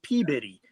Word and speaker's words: Peabody: I often wear to George's that says it's pronounced peab bitty and but it's it's spelled Peabody cor cor